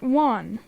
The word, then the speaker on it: Wan: Albert Wan. Juan? Juan. How do you Juan. spell that?